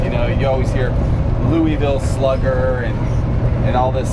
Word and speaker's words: Louisville: know you always hear louisville slugger and and all this stuff but it's actually you gotta pronounce it like you have mush in your mouth they said so it's louisville kentucky but it's uh